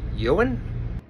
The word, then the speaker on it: Eoghan: Eoghan?